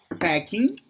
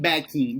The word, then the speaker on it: packing: Packing. Back. No. And Packing. With you're saying backing, but it's packing with P.